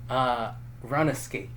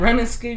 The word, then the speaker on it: RuneScape: But it's Run Escape. Run Escape is the one game. It's RuneScape, bro.